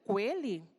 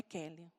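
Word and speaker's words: Queli: Então, na hora, o Grace passou para a Gláucia e o Kelly é escrito com Q-U-E-L-I. Então, às vezes, muita gente fala assim, nossa, mas como que pronuncia? Coelho? Não, é Kelly.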